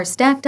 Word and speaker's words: stack: 여기까지가 books are stacked 할 때 그 스택이 아니라 스택입니다. 여러분 된 소리로 발음하십시오. 이 S 뒤에 T 소리는 된 소리입니다. 그러니까 스택 하면은 sounds very weird예요. 이상한 소리처럼 들리고 다른 단어 같이 들립니다. 그러니까 stack 이렇게 소리를 그대로 베끼십시오.